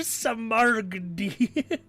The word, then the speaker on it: smaragdi: So, I don't, this might be a strict, but I'm like looking Flor for Samargdi. Samargdi. It's Finnish for emerald. How do you pronounce this?